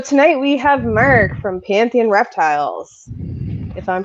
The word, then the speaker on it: Pantheon: So tonight we have Mark from Pantheon Reptiles, if I'm pronouncing it correctly. Yeah, Pantheon. Yeah. Pantheon, like the Greek, Exactly.